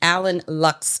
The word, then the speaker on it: Alan Lux: So what's next and I did mispronounce the name of your studio. It is Allen Lux Studios.